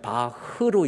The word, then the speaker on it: Bach: 이 슈프라케라고 하는 이 최하 발음, 이 CH 발음이 A로 끝나는 CH 발음은 흐로 읽어야 돼. BACH 영어로 보면 바흐로 읽어야 돼. 바하로 읽는다든지. 이게 일본 애들이 망쳐놓은 거야.